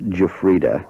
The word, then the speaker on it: Giuffrida: that's what it is my name is pronounced jefa oh I beg your paron